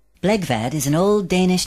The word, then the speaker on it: Blegvad: correctly pronounced in English bvad rhymes with egg bad give it a try bvad bvad good it's simple when you know how isn't it nevertheless Peter bvad continues to hear it mispronounced Bread Van bath plug bed bug